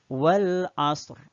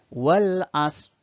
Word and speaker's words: Al-Asr: Yang pertama, wal asr. Ingat, di ujung bunyi bacaan ada bunyi huruf ro yang disukunkan. Maka kalau membacanya wal asr, dipastikan tidak tepat. Wal asr. Ada ser gitu ya di bagian belakangnya.